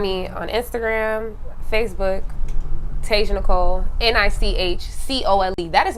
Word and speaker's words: Nichcole: should talk about that ni CH niche cold but it's Nicole okay that's how my